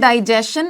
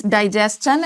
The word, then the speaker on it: digestion: That these words which are ending with S-T-I-O-N, we are going to use chun sound while pronouncing them, but we are not going to produce shun sound.